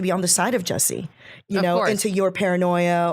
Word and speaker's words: Jussie: Whether or not is someone who is visible, like Jussie, is that how you say his name? Yeah, Jussie.